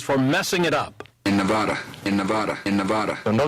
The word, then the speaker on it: Nevada: messing it up in Nevada in Nevada in Nevada no disrespect ECT to the president but when you're here you need to pronounce the state's name the way we do the president got the